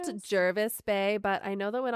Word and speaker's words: Jervis Bay: Jervis Bay, but I know that when Australians say it, it's like, sounds like Jarvis. It's Jarvis Bay, but Jervis is what it spelled like.